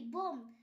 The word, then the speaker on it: bomb: M+B পরপর থাকলে বি এর পর ভাওয়েল না থাকলে বি এর উচ্চারণ হয় না, যেমন বোম, BOMB বোম। এখানে বি এর পর ভাওয়েল নেই তাই বি এর উচ্চারণ হয়নি। কোম, COMB কোম, এখানেও বি